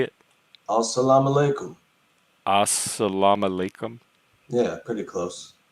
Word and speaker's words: As-salamu alaikum: Oh, As-salamu alaikum.